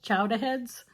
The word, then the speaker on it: Chowdaheadz: This was a t-shirt I got recently from a company called Chowdaheadz. It is pronounced with a Boston accent.